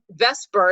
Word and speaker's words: VSEPR: strange term which is Vesper is usually how it's pronounced or VSEPR or valence